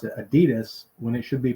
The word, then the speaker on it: Adidas: the United States that come from Germany like Adidas shoes are German made and she said you guys pronounce it Adidas when it should be pronounced Adidas but we